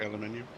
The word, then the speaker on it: aluminium: Doug, how do you pronounce it? Doug Aluminium products till the end of November 2024.